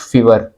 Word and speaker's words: Fiverr: एक बात यहाँ मैं आपको बता दूं कि कुछ लोग इसको फाइवर पढ़ते हैं और कुछ फीवर, तो दोनों तरह से सही है, लेकिन मैं इसको फाइवर पढ़ता हूँ।